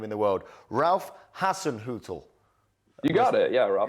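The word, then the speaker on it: Ralph Hasenhüttl: it's the most German name in the world Ralph Hassen Hut you got it yeah Ral got it nailed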